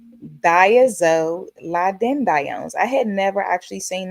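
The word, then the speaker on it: thiazolidinediones: The classification is diazolidinediones. That's a long one, right? Diazolidinediones. I had to look that up, guys. That pronunciation is diazolidinedi. I'm sorry, I'm saying it wrong again. Diazolidinedione. There it is. Diazolidinediones.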